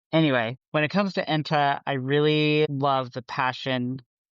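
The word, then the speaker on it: Enta: And I'm going to say his name wrong. Ena.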